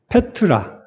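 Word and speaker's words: πέτρα: 이이 베드로 베드로와 반석이 베드로는 이제 헬라오 발음으로는 뭐 저도 정확하지는 못하지만 그냥 알파벳을 읽어 보면 페트로스 이렇게 발음이 되거든요. 페트로스 이렇게 되는데이 반석은 페트라 이렇게 발음이 돼요.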